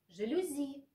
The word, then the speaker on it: жалюзи: правильно жалюзи или жалюзи жалюзи нужно произносить с ударением на последнем слоге так как слово пришло к нам из французского языка эти сведения можно найти